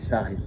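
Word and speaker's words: Chari: It's the river, Sherry River, am I pronouncing it right? Sherry. Shari. In Shari. French.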